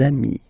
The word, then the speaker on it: amis: you will get des amis, okay, des amis. So ami, remember, doesn't change. Even if you get to write the S, then you don't pronounce it, okay.